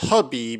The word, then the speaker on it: Khabib: His name is pronounced Khabib, even though it starts with a K, Nurmagomedov.